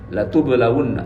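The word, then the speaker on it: لَتُبْلَوُنَّ: Dibaca pendek, bukan la panjang. Kalau la panjang itu la nafi, la tidak, tapi bacanya harus pendek. La tublawunna, sungguh, demi, benar loh ini kalian pasti diuji oleh Allah.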